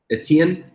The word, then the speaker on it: Etienne: I mean, pronounced wrong. Etienne, Florence Etienne.